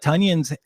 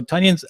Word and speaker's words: Tonyan: And I love that when he corrected announcers on how to pronounce his name, he said it was like Funyun, not onion.